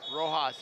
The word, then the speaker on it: Rojos: Rojos is how they're pronouncing that.